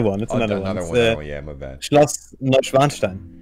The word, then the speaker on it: Neuschwanstein: Schloss Neuschwanstein. How do you say it again? Neuschwanstein.